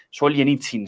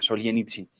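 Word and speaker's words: Солженицын: escritor ruso Alexander sols gitsin así se llama sol yen itzin se pronuncia sol yen itzin lo pueden buscar en en internet y vale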